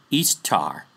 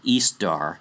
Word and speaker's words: Ishtar: Yep, this same goddess, same as Gamsu, Ishtar, or Ishtar is more appropriate pronunciation.